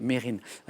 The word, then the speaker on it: Mesrine: de police à vue mesrine et puis on s'est rendu compte finalement que lui-même le prononcer mérine était considéré comme l'ennemi